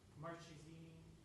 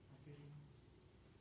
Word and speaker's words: Marchesini: Marchesini, that's how you pronounce it. Marchesini.